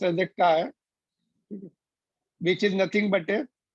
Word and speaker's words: chi: Gamma के symbol होते हैं, this is also pronounced as a chi, which is nothing but a susceptibility.